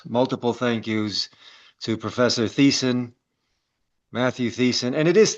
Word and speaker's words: Thiessen: Well, I was going to call you Tahiessen, so Yeah, no, just Thiessen. The H is silent.